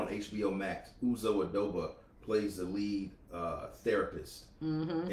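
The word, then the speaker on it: Aduba: Uzo Adoba.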